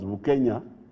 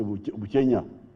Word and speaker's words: Bukenya: His real name was Bukenya. But because Banyawere cannot easily pronounce Bukenya, they say Buchenya.